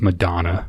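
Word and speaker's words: McDonagh: McDonough. He wouldn't be on there. Or McDonough, some Irish. It's pronounced Madonna.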